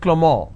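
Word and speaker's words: Clément: it's pronounced that avril the name clement is pronounced at clamor in french so the names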